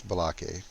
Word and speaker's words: Balake: I say his name different every time I say it. It's Balake. It's Balake? It's Balake. Balake. No, it's Balake. Oh, okay, it is Balake.